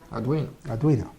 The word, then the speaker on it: Arduino: There's a U. There's not an E. See? Okay. Italiano. Arduino. Uno.